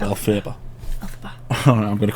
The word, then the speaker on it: Elphaba: Who the heck is Elphaba?